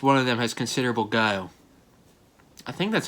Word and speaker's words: Guile: what at least one of them has considerable guile i think that's how you pronounce it keel i know kyle is how you pronounce this street fighter him his name is